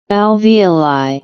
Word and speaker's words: alveoli: In mammals and reptiles, these are called alo alivoli. Let's see this again. Alvoli.